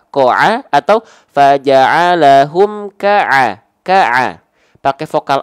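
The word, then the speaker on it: ك: Nah, pertanyaannya, huruf kaf ini dibacanya faja'alahum ko'a atau faja'alahum ka'a. Pakai vokal A, pakai vokal O. Kalau huruf kaf mah bang vokal A dong, bukan kok dong, tapi kak dong bang. Vokal A ya, maka dia huruf yang tipis, huruf yang tebal.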